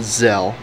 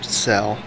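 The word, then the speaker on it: Tzel: my tech marine zell spelled t z e l pronounced as zell or cell sort of a weird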